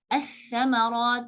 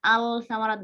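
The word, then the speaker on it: الثَّمَرَاتِ: As-samarat. Jadi kita nggak baca al-samarat nggak, kita bacanya as-samarat.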